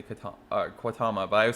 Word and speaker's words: Quatama: It's one stop from the one I actually live at, and it's called Katama, but they say it Quatama because the fact it's QU and it's English, so they say Quatama, but I would say